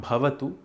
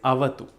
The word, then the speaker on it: avatu: Now, there are a few words which are most commonly mispronounced in this mantra. The first one is Sahana Bhavatu. It is not Bhavatu, it is Avatu.